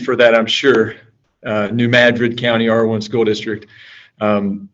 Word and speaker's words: New Madrid: i'm the superintendent of new madrid you know we put the accent on the mad there are reasons for that i'm sure uh new madrid county r1 school district